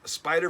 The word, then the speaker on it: SPDR: is look at this spider verse number three uh this is the cover a riposo cover uh this is um spider that's how you say it spdr spider but it's a beautiful